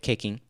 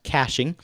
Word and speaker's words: caching: are the results with caking which actually is pronounced caching but caking just sounds so much more delicious i'm going to scroll